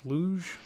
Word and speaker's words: luge: Well, one thing before we move on from these game series, I heard you talk about the, is this luge? Is that how you pronounce this? Luge? Luge, yeah.